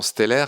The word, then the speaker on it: Steller: Oui, alors tu l'appelles Steller, c'est bien, tu prononces bien les mots allemands. On l'appelle habituellement Steller, mais en effet, c'est